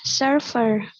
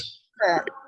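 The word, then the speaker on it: surfeur: Lucas est surfer. Ça s'écrit Surfer. S-U-R-F-E-U-R. Ya. Tetap dibaca U, bukan surf seperti bahasa Inggris. Agak sedikit dikurangi bahasa Inggrisnya, ya. U tetap U.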